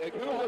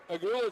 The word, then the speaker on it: Agüa: And now a boot uh excuse me, Aula looking to check back in. Yeah, I'm saying it wrong. Agüa checks back in.